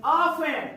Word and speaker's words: often: होगा कि, there is ऑफन, अब लिखा तो है ऑफ्टन, OFTEN दिख रहा है सबको? तो ऑफ्टन F के बाद T लिखा है, उसको T को साइलेंट कर दो। इसे पढ़ते हैं ऑफन मतलब अक्सर, ऑफन